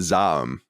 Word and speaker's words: ZA/UM: the studio what that I thought was z z a u m but it's actually Zam as far as are you supposed to say it like a word I didn't know that apparently no either yeah apparently it's um it's meant to be said zom as I understand it and these are